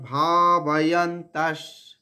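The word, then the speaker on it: ভাবয়ন্তঃ: পরস্পরম ভাবয়ন্তস, এখানে বিসর্গটা তালবস্য হবে। ভাবয়ন্তস, তারপরে যে ভাবয়ন্তা, এরপরে যে বিসর্গটা রয়েছে সেই বিসর্গর উচ্চারণ এখানে তালবস্য হবে, অর্ধেক তালবস্য।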